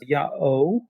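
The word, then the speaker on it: Iao: Well, not Hiha, that's the anglicized version of it, but the Old Greek pronunciation was Ya'o, and the native Egyptian word for donkey was Yo.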